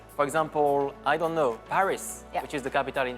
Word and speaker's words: Paris: the letters okay for example I don't know Paris which is the capital in France yeah Paris is the English version but in France we